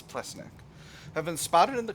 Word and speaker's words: Plesnik: Close associates of Bosdar Ple Pleeneck have been spotted in the company of se I think this is Plesnik. I think I've been saying it wrong. I think it's Plesnik.